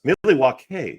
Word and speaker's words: Milwaukee: It's pronounced Milly, which is along for the good land.